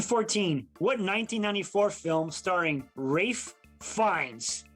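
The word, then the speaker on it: Ralph Fiennes: what 1994 film starring rafe finds that's that's how he pronounces it because he's fancy huh he's fancy and john tuturo features the fictional game show 21.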